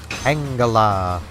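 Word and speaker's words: Tangela: is good enough tangala or Tanga pronounce both ways BL scorer the buff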